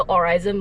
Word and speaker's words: Aurizn: I'm with EvoMalaysia, which is under Aurizon Malaysia. Yes, AURIZN is pronounced Aurizon Malaysia.